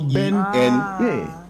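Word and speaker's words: Bennard: And my Bernard, my dad chose to spell it BNNARD. So there's a double N. So Ben Nard.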